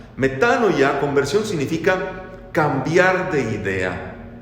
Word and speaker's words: metanoia: ya tal vez pero se pronuncia correctamente como metano ya metanoia conversión significa cambiar de